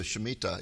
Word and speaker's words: Shemitah: And now you have a new book out called The Mystery of the Shemitah. Is that the correct way to pronounce that? Yes, you did it perfectly.